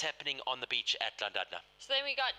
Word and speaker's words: Llandudno: This is the top 10 men through Llandudno for you. How did you say? I mispronounced it. Oh, Llandudno.